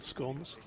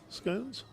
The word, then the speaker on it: scone: Is that not the northern pronunciation? Scone. Oh, scone up here. Yeah, okay. Well, that makes sense because you've got stone, haven't you?